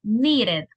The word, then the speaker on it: needed: And this one, needed. Needed. Needed. For these two, para estas dos, you have to pronounce the E and the D. Suggested, needed.